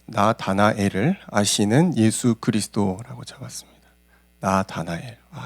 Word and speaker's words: 나다나엘: 나다나엘. 발음하기가 쉽지가 않습니다. 우리는 다니엘을 잘 기억하고 있기 때문에 자꾸 나다니엘이라고 발음하고 싶은 욕망이 엄청 크지만 이름을 바꿔 부르면 안 됩니다.